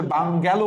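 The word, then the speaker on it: bungalow: আচ্ছা, বালিয়ন বা বুলিয়নিয়ন আর বাঙ্গালো, বাংলো, এটা আসলে বাঙ্গালো উচ্চারণ করবা, তাহলে ভুল হবে না।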